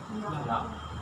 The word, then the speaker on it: Ja: Ja.